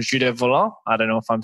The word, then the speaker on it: Volant: Now, Henry just wanted to ask a question and to see whether you could pronounce volant better than us. Volant.